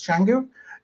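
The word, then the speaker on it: Canggu: Uh the I mean we would pronounce that as Kangu but a lot of people over there they pronounce that as Changangu.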